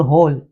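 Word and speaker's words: whole: हैं उसी प्रकार से डब्लू डब्लू एच वर्ड में ये दो ऐसे हैं जैसे हु और होल यहां पर डब्लू साइलेंट हो जाता है एच के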